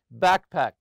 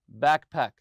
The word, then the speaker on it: backpack: Also, backpack, backpack. Always stress the first part.